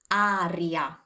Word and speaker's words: aria: Aria. Now let's learn to pronounce this correctly thanks to the spelling. A, R, I, A. Aria. Can you hear the difference? It's not air, it's aria.